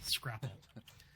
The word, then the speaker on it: scrapple: to redo this part Scrabble that's what we call it that's a game scrapple no Scrabble yeah not Scrabble scrapple we're Feud um yeah